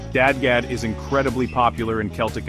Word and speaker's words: DADGAD: Finally, let's touch on dad gad tuning, pronounced dad gad.